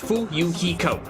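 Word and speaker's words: Fuyuhiko: name is my first name is pronounced fool Yukiko I'm still inexperienced member of the family's business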